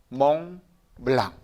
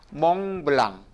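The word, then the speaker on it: Mont Blanc: 뭐 없어요 그러니까 어떻게 돼요 그러니까 같이 한번 발음해 보세요 이거는 멍 멜랑 몽블랑 같이 한번 해보세요 몽블랑 다시 한번 몽블랑 몽블랑 많이 보시고 또 들으셨죠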